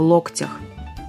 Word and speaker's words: локтях: я Мария свешникова здравствуйте согнуть руки в локтях или в локтях где ударение в этом слове правильно в локтях в русском языке слово